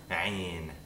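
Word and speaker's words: عين: Ayn is an approximant consonant, which means that there's no stop or a fricative nature to the consonant. A stop would be like a p, t, d, k. Fricative would be kh, something like that. These are all things we've learned before. An approximant in English is an R, r, r.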